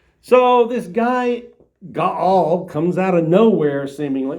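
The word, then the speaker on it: Gaal: And then we get this new guy in the story named Ga. kind of rhymes with Baal. That's how I say it. We'll see how Jackie says it. Now, Gaul, the son of Ebad, came with his relatives and crossed over into Sheckchham.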